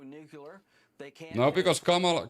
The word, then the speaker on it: Kamala: They can't No, because Kamala Kamala is Isn't it Isn't it a Indian name? So, it's actually pronounced Kamala.